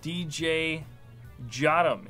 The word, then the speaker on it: DJ Jotum: DJ Jotum is how it's pronounced.